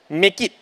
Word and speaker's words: MECIT: Misit. MECIT. Okay, thank you. The two of you. So apparently a correct response or the way they wanted to share was MECIT is pronounced as make it.